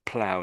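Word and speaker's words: plough: The o u g h is makes look a bit weird, doesn't it? But just um so that's how the British spell it, but in America they spell it like that. That's plow in America.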